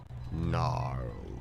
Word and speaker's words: gnarled: It looked splintered and gnarled with a silent G.